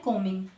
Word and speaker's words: combing: अब डूइंग words क्या है यहाँ पर, कंघी करना, तो कंघी करना को क्या कहते हैं, कोमिंग, COMBING, बी साइलेंट होता है, इसको कोमिंग प्रोनाउंसिएट करते हैं, राइट।